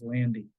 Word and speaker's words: Landy: by Andy or by the man whose name rhymes with Andy it was Landy um and he was